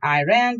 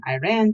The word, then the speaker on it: Iran: Often kids tried to be funny by chanting, "I ran to Iran, I ran to Iran." The correct pronunciation, I always informed them, is Iran. "I ran" is a sentence, I told them, as in I ran away from my geography lesson.